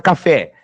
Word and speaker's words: café: Pega a palavra café. Café! Quem se sustentou é o fé.